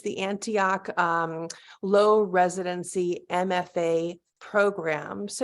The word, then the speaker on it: Antioch: are a core faculty member um do I pronounce it Antioch it's the Antioch low residency MFA program so you do teach